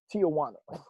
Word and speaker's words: Tijuana: then he got self-conscious and was like it's pronounced tijuana like that and uh anyway never mind so